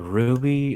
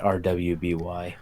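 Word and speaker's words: RWBY: I always thought that I never knew they pronounce a ruby I always thought since it was just letters they pronounce it our waby oh my god thank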